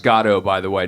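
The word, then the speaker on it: Godot: be poo in waiting for go uh it's pronounced gado by the way not gdau and uh uh and I said oh yeah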